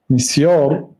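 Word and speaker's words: مسيار: میکردید میسیار بود میسیار میسیار به زبان عربی تلفظ کرده میشد از کلمه یسر یسر گرفته شده ازش یسر آسانی این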